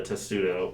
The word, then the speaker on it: testudo: Is it just in box turtles, or is it in a lot of the testudo, or however you pronounce that? Yeah, testudo's correct.